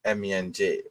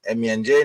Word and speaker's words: MENJ: Welcome to yet another impromptu live streaming from the Muslim Apologist, and I'm your host MENJ. Right. So it's MENJ, not Menj, Menji, Menj, Minj, Meng. It's pronounced MENJ, and I just don't